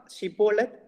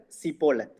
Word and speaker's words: Shibboleth: So this, because one tribe was not able to pronounce Shibboleth. So what they will say, instead of sh, they will say sir. Shibboleth, instead of that, they will say Siboleth.